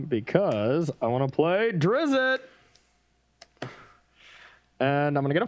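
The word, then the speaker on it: Drizzt: i want to play drizzy and i'm gonna get a 4-1 also i was told in chat earlier that card's pronounced drist oh drist yeah okay yeah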